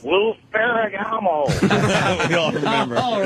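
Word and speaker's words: Lou Ferrigno: I just wanted to let you know you're pronouncing it wrong. It's Lou Ferragamo.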